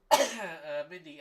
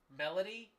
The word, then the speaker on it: Melody: is the big one Mindy LOL my name is pronounced m m lady oh Melody Mel lady I I thought it